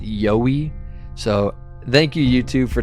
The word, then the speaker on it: Yowie: I was calling it yahi the whole time which in reality as I've been saying it's pronounced yoy so thank you YouTube